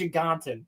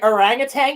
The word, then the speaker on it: orangutan: Somebody put orangutang in in a super chat and he said something he pronounced it as orange. Orangean and then everybody was like orangutang you idiot.